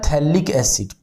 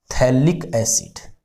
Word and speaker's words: phthalic: ये होता है थैलिक एसिड, PHTHALIC, थैलिक एसिड, ठीक है ना। PH इसमें साइलेंट होता है।